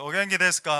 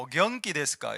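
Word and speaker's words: お元気ですか: 발음을 잘해야 되죠. 오겐키 데스까 이래 안 하고 오경키 데스까 이래 가면은 경기 들렸습니까? 당신 경기 이래 되죠.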